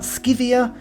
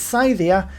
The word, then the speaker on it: Scythia: single one of them we're playing as scythia not skivia or skyvia it's scythia and that's how i'm gonna pronounce it because i've done some